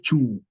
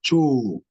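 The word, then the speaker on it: choo: Now, double O, which also confuse many people, as I've said in English before, double O in English will mean U, which is you. It will be converted to you, but in Kiswahili it means O. For example, when you saw last time the word cho, it is not chu, it is cho. Cho, which means toilet. That is O, is cho.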